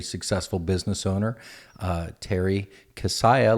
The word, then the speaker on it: Kissiah: business owner uh Terry cassiah like Messiah that's the way to remember the last name that's pronounced thanks for